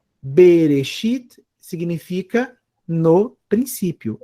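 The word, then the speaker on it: בְּרֵאשִׁית: Eu tenho reche com oere. Eu leio re. O alf não tem som. O shin tem som de X. Eu tenho aqui um hiikud. Leio como isso, ó. Berexi e um tave no final. Berexit.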